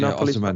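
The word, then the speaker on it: Osimhen: There's rumors you're going to try and get Osiman. Is it Osman? Help me again out on the pronunciation of the Osman. Yeah.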